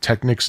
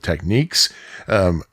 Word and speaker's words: Technics: have now, and some audiophiles are probably cringing right now because I said Technics instead of Techniques. If you are cringing because of that, I got news for you. I've seen some commercials that pronounce it Techniques and some that pronounce it Technics, so pick your poison.